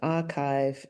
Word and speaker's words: arXiv: Now, arXiv is spelled A-R capital X-I-V, where the X stands for chi, the Greek letter. And as we'll hear in this podcast, arXiv is a really important part of the scientific and mathematical community.